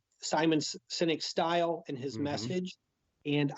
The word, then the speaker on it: Sinek: book that's a simon Sinek is one of my favorites by the way his last name is spelled SI n EK not like cynical and he's anything but